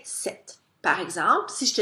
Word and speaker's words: cet: voyelle, à ce moment-là, je vais écrire CET et je vais le prononcer set.